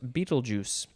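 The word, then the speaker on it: Betelgeuse: capital b-e-t-e-l-g-e-u-s-e and uh the pronunciation guide does say it is pronounced beetlejuice or beetlejuice or beetlejuice noun from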